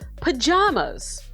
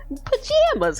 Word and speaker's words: pajamas: How do you pronounce the second syllable of pajamas? I do it like palm, but also when I'm feeling extra silly, I say pajamas because sometimes I say jam, so it can really